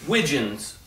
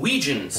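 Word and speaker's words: wigeon: do you call them Wiggins like rhymes with pigeon but you know I watch a lot of videos and they call them Weejuns regions as rhymes with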